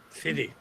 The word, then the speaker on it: Serres: ¿Cómo se escribe el autor? Serres, S-E-R-R, acento S. Michel Serres.